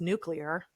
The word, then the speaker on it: nuclear: She's like, "Well, for starters, I know it's pronounced nuclear."